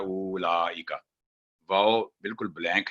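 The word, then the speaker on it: أولئك: उलाइका, आगे ये भी सेम मिस्टेक होती है, यहाँ पर वाओ नहीं बोलेगा।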